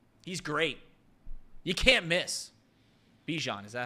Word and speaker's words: Bijan: Bijan, is that how you pronounce it?